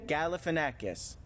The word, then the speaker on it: Galifianakis: you say his name Galifianakis say it again Galifianakis Galifianakis Zach Galifianakis was my waiter at stingy